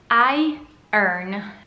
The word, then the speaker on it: iron: video in cui un native speaker, madrelingua, la pronuncia iron, voi sentirete che in realtà è come se dicessero iron. Iron. Io guadagno. I earn.